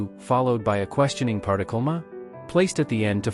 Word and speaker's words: 嗎: m Uses ko to indicate its role as a question particle, and its pronunciation is based on ma. However, the tone shifts from the third tone of ma to a lighter tone in ma.